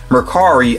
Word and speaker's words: Mercari: purchase from the app Mercari, I think is how you say it. That's how I've heard some other people pronounce it.